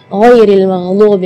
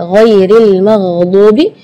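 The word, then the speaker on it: غَيْرِ الْمَغْضُوبِ: siratal ladzina an'amta 'alaihim ghairil maghdubi 'alaihim waladdallin. Di ayat ini yang pertama di makhraj huruf ghain ya, ghairil maghdubi ya, perlu diperhatikan bukan G, bukan huruf G ya, bukan ga, tapi gha.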